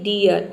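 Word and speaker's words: dear: ई pronounce करते हैं लेकिन अगर देखिए किसी वर्ड में डबल ई के बाद अगर आर आ जाए तो वहां पे डबल ई को हम ई अप प्रोनाउंस करेंगे जैसे कि डियर यहां पे देखिए डी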